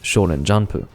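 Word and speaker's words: 少年ジャンプ: shaun in magazine there is sean and jump which is shonen janpoo if i were to properly pronounce it who the [ __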